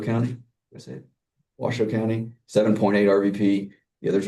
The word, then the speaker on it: Washoe: We go back to the last presentation you saw in, let me say it right, Washoe County. Washoe County, 7.8 RVP.